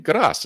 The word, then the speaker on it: grâce: Grâce, as in grace.